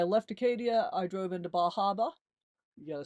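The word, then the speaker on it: Bar Harbor: And when I left Acadia, I drove into Bahaba.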